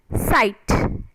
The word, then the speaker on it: sight: right next word is sight s i g h t site so g h is silent sight s i t